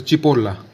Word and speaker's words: ci: ठीक है, और एग्जाम्पल ले सकते हैं जैसे ची, CI हो गया, CI मतलब ची, ची मतलब वहाँ, देयर।